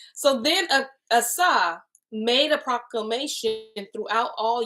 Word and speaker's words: Asa: And towards the end of the night, I changed it to Asa. All right. So then Asa made a proclamation throughout all Yehuda.